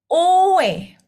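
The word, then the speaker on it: 외: O ditambah E. Owe. Owe. Owe. Owe. Kalau lama-lama jadi W.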